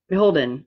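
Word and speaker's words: BHLDN: So I don't know how many of you are familiar with the wedding website Beholden, but it is spelled B-H-L-D-N. Beholden, right?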